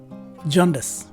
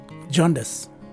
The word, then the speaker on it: jaundice: sounding e and finally the letters c and the e at the end of the word take an s sound so this word is pronounced as jaundice again jaundice let's take a look